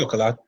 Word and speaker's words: Coquelin: Never knew how to pronounce that guy's name. Always Yeah, different. it's Coquelin.